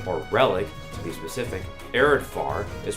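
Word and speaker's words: Areadbhar: relic to be specific arid far is pronounced arid far not arid far yes it's pronounced with an F naught of B if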